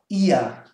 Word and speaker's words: ihr: And this one is pronounced ihr. So there's no R whatsoever.